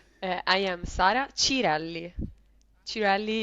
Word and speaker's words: Cirelli: I am Sarah Chelli Chelli is the correct pronunciation of my surname I guess yes that's